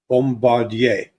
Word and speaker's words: Bombardier: Bombardier.